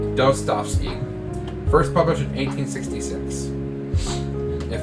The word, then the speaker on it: Dostoevsky: I'm finally able to pronounce that name correctly. Dostoevsky.